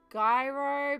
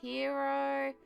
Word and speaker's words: gyro: consistently hmm sandwich uh we're talking about gyro but apparently it's pronounced more hero I'm not quite sure